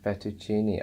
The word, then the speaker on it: fettuccine: really well that you you're pronouncing the e at the end okay so that's fantastic the e is supposed to be pronounced and you're also pronouncing the CC with the church sound which is also fantastic Oh effector cheney fettuccine